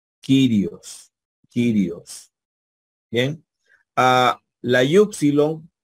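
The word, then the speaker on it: κύριος: aquí tenemos una palabra con catpa que es kirios quirios quirios bien a la yupsilon puede sonar como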